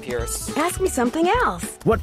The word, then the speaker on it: Perce: Oh, I guess it's pronounced Pierce.